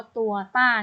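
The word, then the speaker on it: 多大: ตัว จ้าง สวน ทาง คำ นี้ ออก เสียง ว่า ตัว ต้าร์ นะ คะ ตัว ต้า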